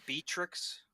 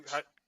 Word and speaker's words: Beatrix: How did you pronounce Seems the queen's interesting. name? Beatrix. that was the previous one. Yeah, how'd you? Beatrix.